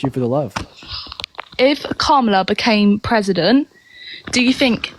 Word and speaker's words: Kamala: Her name's Kamala. Kamala. Is it the same? Yeah, but I think that's just my accent. Unfortunately, I've heard many British people pronounce her name correctly before.